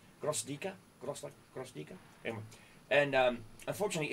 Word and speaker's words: Gvozdika: We're going to be taking a look at the 2S1 Gvozdika. I hope I pronounced that properly. A friend of mine from the Ukraine helped me with the pronunciation. Gvozdika. Gvozdika.